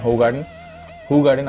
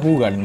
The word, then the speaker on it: Hoegaarden: This beer as ইন হু গার্ডেন। আবারও ভুল বললাম, দেখছেন তো কেমন প্র্যাকটিস হয়ে গেছে, বাট অ্যাকচুয়ালি প্রোনাউন্সিয়েশনটা হু গার্ডেন, কিন্তু বলে রাখলাম, আমিও জানতাম না, আমিও দেখেই শিখলাম।